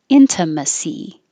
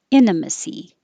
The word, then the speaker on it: intimacy: it there surface surface intimacy intimacy or you can say it without the t intimacy intimacy and 11 and